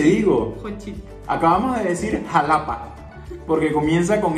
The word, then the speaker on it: Xalapa: Acabamos de decir Xalapa, porque comienza con X y con A. Aquí no aplican el mi mamá me ama, porque entonces si es X y es A, es Xalapa.